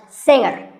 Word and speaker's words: singer: is silent now we say finger we say the g younger again with the g but singer no g and what would you